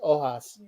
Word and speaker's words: Ojos: So the H is silent. So it's Ojos.